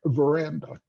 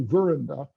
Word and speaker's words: veranda: Take a word like veranda. The middle syllable and is gets the main stress, and the ver to the left and the to the right are lesser stressed. You don't say veranda or you don't say veranda.